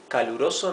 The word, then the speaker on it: caluroso: Caluroso means hot. Caluroso. 4 syllables.